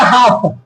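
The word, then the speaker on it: half: एफ से मतलब होगा एच ए एल एफ इसको हाफ नहीं बोलेंगे इसे बोलेंगे हाफ क्या बोलेंगे हाफ हाफ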